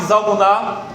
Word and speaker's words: Zalmuná: Zeba e Zalmuná, eu estou pronunciando como se fosse o nome hebraico, são os dois governantes ali dos midianitas que fugiram, é rei dos midianitas.